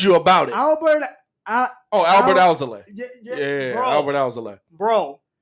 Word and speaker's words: Alzolay: Albert Alzolay. Alzolay.